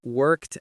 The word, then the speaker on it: worked: For example, my father worked in an office yesterday. Or, I worked very hard on my homework. Listen to the sound at the end. Worked. It sounds a little bit like a T.